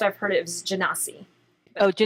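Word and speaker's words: Genasi: was drawn to initially well so it's usually pronounced operatives genesee oh do not see yeah so but I'm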